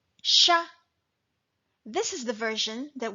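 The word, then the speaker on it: siya: it with s-y-a and this one is pronounced as Shah Shah this is the version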